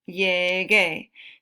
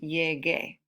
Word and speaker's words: llegué: Okay, entonces, para mantener el sonido, G cambia a G-U, llegué. So to maintain the sound, to keep the sound the same, the G changes to G-U, and then it's pronounced llegué.